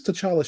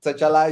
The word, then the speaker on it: T'Challa: It's T'Challa. The T is not. It was that old comic where he specifically says, "Oh, the T is silent." But I think T'Challa is now used so often and sounds cooler or something.